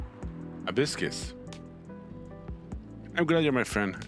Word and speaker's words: Hibiscus: That is pronounced Hibiscus.